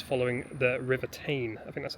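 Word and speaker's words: Teign: Bridge itself, and also it's following the River Tyne. I think that's how you pronounce it. So yeah, it should be a nice little walk. I've just been corrected, it's the River Tyne.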